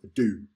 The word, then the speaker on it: DHO: and they've created decentralized holonic organizations, which is pronounced DO, D-H-O, rather than D-A-O.